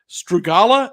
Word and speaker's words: Strugala: Bishop Rita Strugala. Am I pronouncing that right?